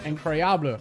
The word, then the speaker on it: incroyable: Incroyable. Okay. Incroyable. I was close. I was on the right path. Incroyable. I guess you don't really have to emphasize the bleh at the end.